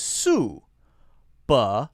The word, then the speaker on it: Subaru: we slow it down its sue buh not ba ruh ruh right so we don't say that ah sound clearly it's more like the schwa sound buh-buh-buh-buh-buh buhbuh and then the stress is on the first syllable sue oh not bah bah bah ruh ruh subaru subaru